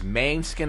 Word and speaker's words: Måneskin: This is Maneskin, is how you say it.